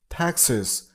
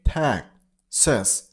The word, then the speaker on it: Texas: Texas. Stress on the first syllable, Texas. It's not sus, it's sis. Okay? So, Texas. Texas.